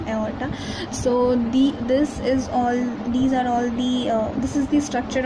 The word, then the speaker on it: aorta: This is pronounced as aorta, sorry, I'm pronouncing it wrong, aorta.